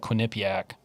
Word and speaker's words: Quinnipiac: So in this poll dated on the 9th, so about 3 weeks ago, is out of Quinnipiac. Good job pronouncing that. That's how you say it.